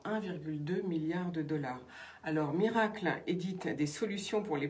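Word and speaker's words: Mirakl: Autre info du jour, c'est donc Miracle. Ça s'écrit M-I-R-A-K-L, qui devient une licorne française, c'est-à-dire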